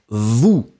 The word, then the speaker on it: vous: Ooh, so you really put your lips like a trumpet. Ooh, like that. You can make sure that the ooh will be pronounced. Make it longer. Ooh, and after that, short. Remember, final S not pronounced. So it gives you vous.